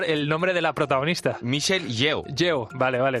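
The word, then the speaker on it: Michelle Yeoh: Oye, ahora me vas a explicar qué es eso del multiverso, pero antes quiero que me pronuncies, por favor, el nombre de la protagonista. Michelle Yo.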